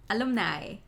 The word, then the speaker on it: alumni: That the lum is not pronounced like in luminous, but alumni.